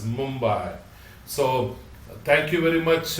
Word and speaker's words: Mumbai: We am also apologize for mentioning as a Bombay, it's Mumbai. So thank for your suggestion to make sure that we will pronounce as Mumbai.